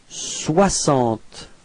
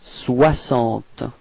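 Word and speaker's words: soixante: okay and then comes Swant okay so same thing as we had for this so This X is pronounced like okay Swant repeat Swant okay don't be afraid to pronounce wah W okay Swant okay and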